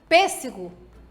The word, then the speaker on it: pêssego: Se a sílaba tônica, se indica a sílaba tônica com vogal fechada, então temos que ler estas palavras em que a sílaba tônica tem que sair o som fechado.